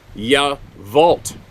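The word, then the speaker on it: Yacolt: and I went to yavolt okay here's another one not gonna sound like that that that uh crotchety old guy it's spelled y-a-c-o-l-t but it's pronounced yeah vault well why don't they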